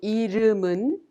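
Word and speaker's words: 이름은: look at the pronunciations the final consonant m m in the second syllable dom of irumun is prolonged to the next syllable un so we pronounce it mun likewise justinio is pronounced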